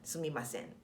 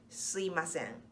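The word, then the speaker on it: すみません: So sumimasen is definitely the right way to say it, but often we kind of slide into suimasen. So mi becomes i, suimasen.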